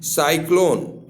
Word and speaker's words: cyclone: जैसे है CYCLONE, साइक्लोन। तो देखिए इसमें सी के बाद वाई आया है तो सौ आ गया है, लेकिन वहीं पे सी